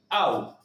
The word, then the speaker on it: ao: La única palabra que se pronunciaría diferente, au, a o, que son de vuelta, que es de vuelta una contracción de dos palabras, a o, que significa a él.